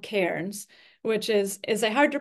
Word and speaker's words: Cairns: But I have an aunt whose name is Karen, and so it just helps me remember that Cairns is like Karen.